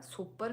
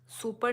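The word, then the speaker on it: supper: मैं तो first time सुन रही हूँ यार, सुपर मीन्स डिनर। यार आप लोगों से भी मुझे नई नई चीज सीखने को मिलते हैं। सुपर नहीं, इसका प्रोनाउंसिएशन सपर है।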